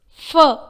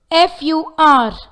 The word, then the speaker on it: fur: Fur, F-U-R, fur, not fur. Singer, S-I-N-G-E-R, singer, but not singer or singer. When a word ends with letter R, instead of R sound, we make it as a sound in British English.